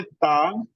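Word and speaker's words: ط: बट the difference between them is that ता is recited with empty mouth and this तौ is recited with the full mouth.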